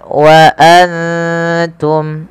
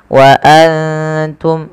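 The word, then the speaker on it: وَأَنْتُمْ: dalam rasum utsmaninya kemudian Wa Antum ada nun sukun yang tidak berharakat bertemu ta kita baca dengan bacaan Ikhfa yaitu cara membacanya menyamarkan suara nunnya kepada huruf wa waantum ya seperti itu waantum kemudian jelaskan suara mimnya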